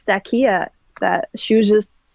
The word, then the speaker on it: Stacia: in your name well that's how that's how she pronounced it stakia that she was just